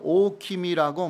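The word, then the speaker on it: おおきみ: 일본 발음으로는 오킴이라고 말했습니다.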